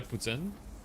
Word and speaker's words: Poutine: Oh yeah, it's pronounced the same way in French too, because like it's pronounced Vladimir Poutine, and then the meal is Poutine, so they're pronounced the same way in French.